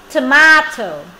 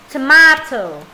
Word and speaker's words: tomato: quả cà chua nào tomato tomato hoặc là Tomato cái từ này nó có hai cách đọc Tomato hoặc là Tomato cái âm này có hai cách đọc nhá Tomato program nào program